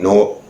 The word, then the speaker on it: Newark: Orange, looking for Newark, I said it right, Newark, Jersey City, and New York City.